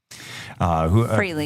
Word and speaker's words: Frehley: Or Ace Frehley or Fraley. Frehley. Founding member, Frehley.